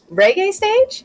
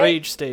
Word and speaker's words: Rage Stage: Team Sucks versus Reggae Stage? Am I pronouncing that right? Rage Stage. Rage. Wait, that says Rage.